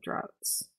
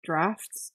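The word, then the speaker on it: draughts: droughts and maps, healing droughts. Droughts and baths? A bit of a stretch for a rhyme there. Healing drafts? Oh, is that how you pronounce that? Frickin' English. Okay. That does rhyme.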